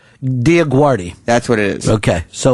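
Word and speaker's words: DioGuardi: Rolling was walking around calling her Diaguardio for the first time. Yeah don't give me any false pronunciations. It'a Diaguardi I watched American Idol every season she on...Diaguardie.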